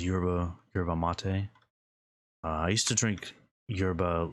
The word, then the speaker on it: yerba mate: I don't know how to pronounce it. It's yerba mate.